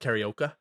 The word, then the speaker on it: karaoke: It's pronounced karaoke.